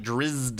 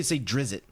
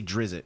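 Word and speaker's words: Drizzt: It's just like I get Drist, but she's like Drizzed, and I'm like, that's just weird sounding to me. Most people say Drizzit. If you just look at it, they say Drizzit.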